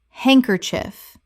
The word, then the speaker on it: handkerchief: handkerchief Three syllables in natural speech. The D in hand is silent, and the final syllable is reduced.